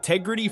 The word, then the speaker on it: Tegrity: farmer would pronounce it, with the first syllable swallowed and the whole word given a rustic inflection that signals authenticity to the people he will be selling to.